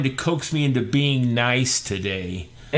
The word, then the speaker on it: Nice: is this is from it says nice in English but really in the French is pronounced nice and when we went